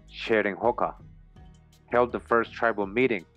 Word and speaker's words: Cheroenhaka: They have been back 4-5 times since February, and when the descendants of the Cheroenhaka, pronounced Cheroenhoka, held the first tribal